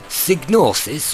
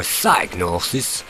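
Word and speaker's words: Psygnosis: for the Liverpool based signosis or sosis whichever way you want to pronounce that and in the sequel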